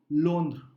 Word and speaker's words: Londres: Or you could say, Rohit could say, je suis à Londres, which is I'm in London.